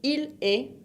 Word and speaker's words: il est: Esa EST también se pronuncia E. La ST final no se pronuncian. Así que tu es e il est se pronuncian de la misma manera el verbo.